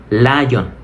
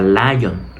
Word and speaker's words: lion: Muchos dirán, mira, qué fácil es pronunciar león. Tienes que decir lion. Pero no se pronuncia lion. Ese la es una L en española.